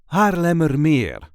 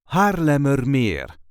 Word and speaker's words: Haarlemmermeer: a regular Dutch accent Haarlemmermeer, a polder and town in the province of Noord-Holland. This is the way we say Haarlemmermeer. Haarlemmermeer. There is a light emphasis on the very last syllable.